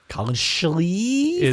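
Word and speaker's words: Collin Schlee: I think it's Colin Schlee. Colin Schlee from Kent State. You have to say his name like that. Schlee.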